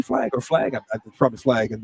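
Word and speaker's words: PFLAG: uh p flag or flag from the flag and the p is silent there and then as we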